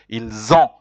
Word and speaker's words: ils ont: Be careful, because when you say ils ont, the sound is like a Z, it means they have, but when you say ils, it is they are.